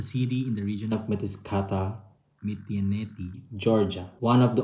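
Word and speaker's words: Mtskheta: Tapos sinerge ko kung paano bigkasin yung location na kung nasa kami. So we're in Mataskata. Mataskata.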